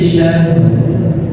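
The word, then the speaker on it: شَهْرٍ: Khairun min alfi syahr. Jangan baca syah, rohnya ke bawah.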